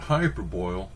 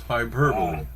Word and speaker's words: hyperbole: It's not hyperbole, it's hyperbole. Nice.